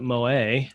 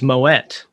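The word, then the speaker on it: Moët: we actually learned everyone here in the u.s pronounces it mo a it's actually there's a nice little video that they did it's moet it's also pronounced moet and shendon it's like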